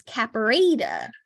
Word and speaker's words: caperata: it turns out that in true pronunciation, it's caperata.